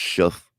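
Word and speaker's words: Shough: I think it's pronounced shuff. like like a shuff enough with the shuff.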